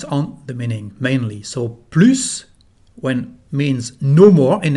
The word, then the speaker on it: plus: So, plus when means no more in English. Here we don't pronounce the letter S, the final S.